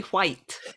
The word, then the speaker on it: white: Keeping all your characters quite literally white. Yes, yeah. Exactly like that. You pronounce the H before the W in white.